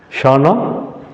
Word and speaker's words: Shahnah: Shahnah? Correct. You pronounced it right.